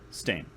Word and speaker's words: steen: Steen. Yeah. It's spelled S-T-E-E-N. Sounds a lot like stain.